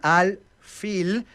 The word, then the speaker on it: al-fil: Cuando llega al árabe, los árabes no pueden pronunciar la P, hasta hoy no pueden, no les sale. Entonces pil se convierte en al-fil, pero era un elefante.